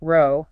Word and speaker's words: row: Row. It feels calm. Okay. Row. Go. Safe. Common. We like row. But then the evil twin appears. The pronunciation that rhymes with cow.